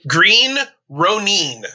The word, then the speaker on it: Green Ronin: and i probably pronounced it wrong i say green ronin but i've heard you say green ronin that is the correct pronunciation of that company name i love it